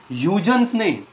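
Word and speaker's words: Huygens: spelling का बघितली का हा डच सायंटिस्ट आहे डच आणि डच मध्ये स्पेलिंग आणि प्रोन्सशन मध्ये हातभर फरक असतो पण म्हणतात काही लोक त्याला युजेन्स पण म्हणतात ओके तर याने या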